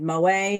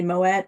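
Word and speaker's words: Moët: You know what, on my interview with Moet Hennessy, I said Moet and it's really Moet, and I said Veuve and it's Veuve.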